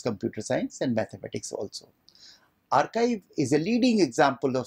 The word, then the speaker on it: arXiv: second example is archive it is spelled as arXiv but pronounced as archive that was started in